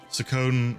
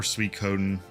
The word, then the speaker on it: Suikoden: They used to work on Suikoden or Suikoden, depending on how you like to pronounce it.